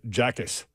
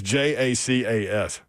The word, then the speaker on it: Jacas: Gabe Jackus. Oh, yeah, no. Middle linebacker. I can be middle linebacker. Better, but no. Yeah, it's just going to be rough. I may be pronouncing his name wrong. It's Jacas.